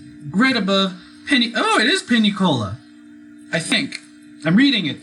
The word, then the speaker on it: Pinicola: I live in credible Penny oh it is Penny Cola I think I'm reading it but I'm not sure I'm pronouncing it correctly um yeah and you need to go there Pina Cola yes and then from there eventually to atlas